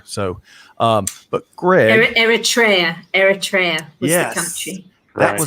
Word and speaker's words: Eritrea: all ships hopefully so um but greg eritrea eritrea yeah that's how you country uh eritrea we've